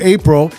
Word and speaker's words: Apriel: But Apriel, cuz the way your name is spelled, it sounds like Apriel, right? Yes. But it's but it pronounce it April still.